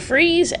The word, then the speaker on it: Fries: right there Victor freeze freeze which is spelled like fries freeze but yeah they spell it fries so it's not just like obvious very cool all right